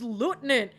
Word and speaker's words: lieutenant: Lieutenant I'm like no do you not know how to pronounce it it's lutenant and he's like oh